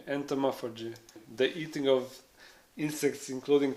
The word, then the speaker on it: entomophagy: Would you ever take part in how do you pronounce that word? Entomophagy. Entomophagy.